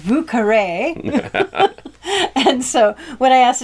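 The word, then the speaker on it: Vieux Carré: new orleans and that it was not the vicara which is how you say it in french but it was the vucare and so when i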